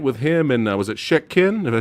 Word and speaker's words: Shek Kin: The end fight with him and was it Shek Kin? Did I say it right, Alex? Help me out. Sekin, yeah.